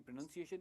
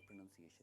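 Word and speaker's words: pronunciation: Is quite good in English, उसकी प्रोनंसिएशन English की काफी अच्छी है। तो ये है प्रोनंसिएशन, प्रोनाउंसिएशन नहीं है, इसमें कोई नाउन नहीं है।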